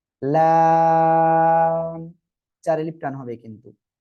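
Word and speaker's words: لام: এই লাম অক্ষরটা উচ্চারণ হবে কোন জায়গায় দেখেন, জিহ্বার আগার কিনারা, উপরে মারির দাঁতের গোড়ার সঙ্গে লাগিয়ে উচ্চারণ হবে লাম। চার আলিফ টান হবে কিন্তু, লাম।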